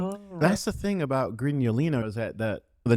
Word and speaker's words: Grignolino: Am I pronouncing this right? La Miraya Yeah. Crinolino d'Asti. Grignolino.